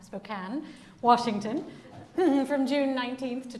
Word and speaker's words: Spokane: take place in Spokane I'm pronouncing it right this time Spokane Washington from June 19th